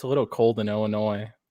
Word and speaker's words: Illinois: the d asylum or illinois there's no you don't pronounce the s so why put it there what the f that's